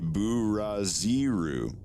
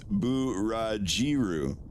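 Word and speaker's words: ブラジル: You think it would be Buraziru. Like Buraziru. Which it would, but there is no Z. Z becomes G, so it's Burajiru. Burajiru is how you say Brazil in Japan, in Japanese.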